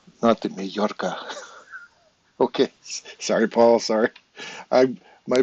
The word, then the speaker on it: Majorca: I'm going to come visit you in Majorca. Majorca. Majorca. Because your J, isn't it? Your J pronounced like an H or something like that?